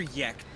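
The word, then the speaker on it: Jecht: Is it Jekt or Yekt? Jet. Jet. Jekt. Okay. It's pronounced similar to jet.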